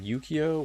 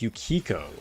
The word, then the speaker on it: Yukiko: Was it Yukio? Wait, how did you spell it? I want to double check. Oh no, it's Yukiko. Okay, dude, I've been saying it wrong this whole time. Okay, so Yukiko.